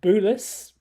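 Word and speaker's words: Bulis: And he sent us an email saying that he's been listening to our chat about Christopher Boulis. And he sort of says that is how the surname is pronounced, and says that Chris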